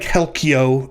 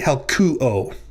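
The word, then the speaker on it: helkyō: So what looks to you like helkyo is actually helkuo, right?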